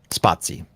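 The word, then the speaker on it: Spatie: Laravel permission by, is it pronounced Spati? Spotsy. Yep. Spotsy.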